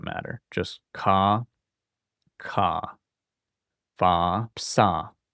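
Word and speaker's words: ψ: Just ka ka fa psa. This one is like a ps pronounced really close together.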